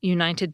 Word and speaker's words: United: The /t/ in “United” is in a perfect position to become an alveolar flap, but in addition, it comes soon after an /n/. In that situation, some speakers find it easier to just leave their nasal passage open when they say the /t/ sound, instead of closing it off again so soon.